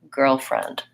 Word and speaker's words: girlfriend: like in Red Tent the stress on girlfriend is on the first syllable so I tend to say girl with some length and friend is shorter girlfriend that's the same stress